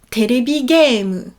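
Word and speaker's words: テレビゲーム: Jeux vidéo, ça se dit terebi game. Donc c'est pas vidéo game par exemple, mais c'est terebi pour télé, terebi, game, bien allongé le e, terebi game, o, la particule de complément d'objet direct, shimasu, suru, faire.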